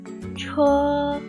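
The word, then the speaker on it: 车: Pada saat pengucapan huruf ini, huruf CH, yang pertama, lidahnya harus dinaikin sedikit atau digulung sedikit menyentuh langit-langit. Yang kedua, huruf ini ketika melafalkannya harus sung qi, harus ada udara yang keluar dari mulut kalian.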